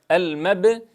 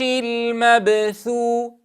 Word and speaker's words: المبثوث: نتنبه عند حرف الثاء وهو مهموس بأن نصوت من المخرج، فيخرج صوت الثاء من طرف اللسان مع أطراف الثنايا العليا، فنحذر من نفخ الخدين عند نطق الثاء الساكنة، كما يحصل خطأ عند البعض فيقول المبثوث، فينفخ الخدين عند النطق بحرف الثاء الساكن أو المتحرك، وهذا خطأ.